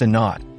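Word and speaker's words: a₀: This value happens to be remarkably close to a number known as A, pronounced a naught, which represents the critical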